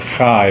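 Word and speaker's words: חי: You pronounce it Chai, but the numerical value of Chai is 18.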